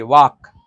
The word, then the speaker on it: walk: WALK, वॉक, वॉक ना। देखिए अब ढेर बच्चा बोलेगा कि WALK, वाल्क ना होना चाहिए, वाल्क नहीं, वाल्क नहीं होगा, वाक इसका उच्चारण होता है, ठीक।